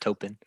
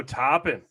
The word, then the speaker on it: Toppin: I was gonna say it's topping not toping wow wow that was